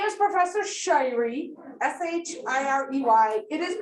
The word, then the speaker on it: Shirey: spelled it's spelled s-h-r-e-y it is pronounced shy like i'm a shy little girl which i am not and ree wong e okay shy ree okay i enjoy it